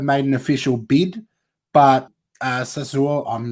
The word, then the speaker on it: Sassuolo: that Arsenal have made an official bid, but Sassuolo, I'm not saying that right. Do one of you want to pronounce it for me? No one? No, let me find right. Sassuolo. Sassuolo.